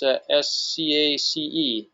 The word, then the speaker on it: Scace: So, the winner of the Bahia Principe swag bag is Skace. I hope I pronounced your last name correctly. It's Scace. you've won the swag bag.